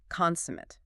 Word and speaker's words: consummate: Consummate.